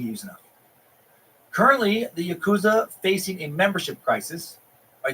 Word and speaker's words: Yakuza: made it back barely the Yakuza or more properly pronounced the Yakuza I hope you learned